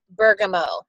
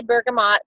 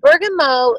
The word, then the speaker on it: bergamot: it smells most like bergamo and Bergen mo some people say bergamot bergamo it depends on where you're from it is a French word so that T is silent so Bergen mo is um it smells